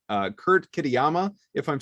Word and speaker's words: Kitayama: Like these guys, when you take a look at how they play this course, it's, if your guy is up, Kurt Kitayama, you did pronounce that correctly, Koff, so congratulations.